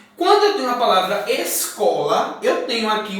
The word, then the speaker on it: escola: Quando eu tenho a palavra escola, eu tenho aqui o S e o C junto. Mas eu vou pronunciá-los separado. Escola.